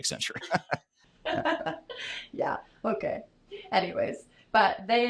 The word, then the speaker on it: Accenture: from sorry T timu from ex accentuate or whatever you call yeah he's not from accent he's from sap yeah I'm not gonna let that go I'm gonna keep bringing up your mispronunciation of Accenture yeah okay anyways but